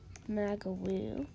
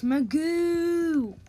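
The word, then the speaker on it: Magu: Magawoo. It's Magoo. Not Magawoo. That's not how I pronounce it, dude. It's M-A-G-U.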